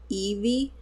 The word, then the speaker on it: Eevee: we had a live I was pronouncing this wrong oops but is this Eevee cuz I think I said eve at at some point